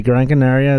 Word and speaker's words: Gran Canaria: now uh first thing you're saying it wrong you're saying the whole kind of islands it's they're eight counter islands yeah yeah you gotta say gran canaria that it has the